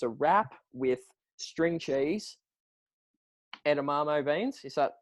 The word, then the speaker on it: edamame: Every Friday night before cricket, it was a wrap with string cheese, edamame beans.